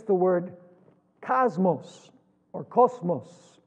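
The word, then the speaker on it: κόσμος: It's the word cosmos or cosmos, which would be the pronunciation in Greek.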